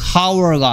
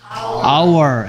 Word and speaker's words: hour: 하면 안 되는 이유가 얘가 hower 발음이 hower가 아니고 뭐다 our h는 소리 나지 않는다 했습니다 그래서 그러면 인원